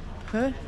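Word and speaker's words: phở: So I'm really, really looking forward to a Bahn Mi, and I think Dave wanted to get a fur. It's not a po, it's a fur.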